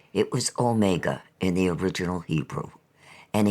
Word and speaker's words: omega: he suddenly asked me whether in reading the Revelation he ought to say omega as a Dactyl with the accent on the o or omega as two words if you understand me